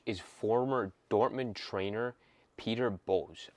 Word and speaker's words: Bosz: And their head coach is former Dortmund trainer Peter Bosz. I think that's how you say it, B-O-S-Z.